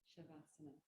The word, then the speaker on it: Savasana: But in Sanskrit, the S is pronounced sh. Depends. Well, it depends. Yeah. Shavasana.